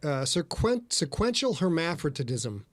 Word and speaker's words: sequential hermaphroditism: Okay, so the sequential hermaphroditism, did I pronounce that right?